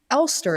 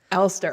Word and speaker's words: Alster: my new friend ster is that the right way to say your last name uh I've been told it's German way back when so I I say ster but uh I think